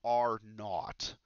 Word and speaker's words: R naught: people are talking about this number here called are not so for some reason even American mathematicians adoptive sort of the British pronunciation for a subscript of zero we call